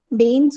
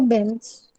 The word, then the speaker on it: Bains: Baines or Benz? It's excellent. Bain. Sorry. Aix-les-Bains or Benz? Yeah, Aix-les-Bains. B-A-I-N. Bains.